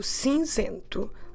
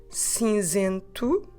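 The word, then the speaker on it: cinzento: so it's the color of the ash so since into let me spell it for you to help you c e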